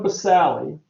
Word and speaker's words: basale: right i pronounce it the sally so you know that there's a silent e because spelling counts okay correct pronunciation is